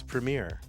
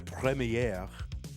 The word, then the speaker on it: premiere: Invictus RA has definitely that's how you pronounce it. You say premiier. It's premiere. I went to the premiere. No one says the premiier 777 for night.